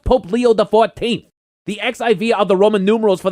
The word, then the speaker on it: Xi: The president of China is President Xi. The X and the I are the spelling of his name, not Roman numerals.